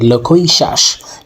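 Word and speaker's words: loquacious: সো আজকে আমরা যে শব্দটা শিখবো এই শব্দটার উচ্চারণ হচ্ছে লক্ষই শ্বাস।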